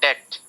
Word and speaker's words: debt: depth this one in debt so be silent don't pronounce that be in debt right so you can